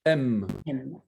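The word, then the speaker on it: אם: On dit M. M. Pas la lettre M, donc c'est M.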